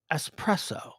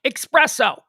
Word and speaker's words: espresso: idiot too s preso espresso it's espresso day it's not expresso can i get some expresso